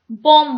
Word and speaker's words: bomb: ये स्मॉल वाला जो बी है ये साइलेंट है, हम इसको सिर्फ बॉम्ब बोलते हैं।